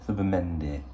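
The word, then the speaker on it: Zubimendi: Anyway, so because of the I know everyone's going to call him Zubamendi, but in Spain a Z is pronounced like a th. So Thubamendi.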